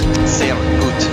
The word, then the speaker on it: sehr gut: How did you read that as Shergut? S-E-H-R. Shergut. Sehr gut.